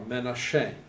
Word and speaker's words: Menashe: This region was given to the tribe of Manasseh, or Menashe, as it's pronounced in Hebrew.